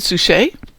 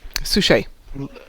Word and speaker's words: Suchet: David Suchet? Is that how you pronounce Yeah. it? Suchet? Suchet.